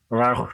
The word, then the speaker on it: Rauch: And I've just mispronounced Rausch beer, obviously having had... Come on, Dave. You can do better than that. Schlenkler Rauch beer.